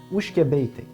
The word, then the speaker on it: Oushkabé: Et le problème, c'est que ça s'écrit pas du tout comme ça se prononce. Donc, ce qu'on a fait, c'est qu'on l'a un peu québécisé. On l'a écrit comme ça se prononce. Ça a donné Ushkebe et c'est le nom de la distillerie.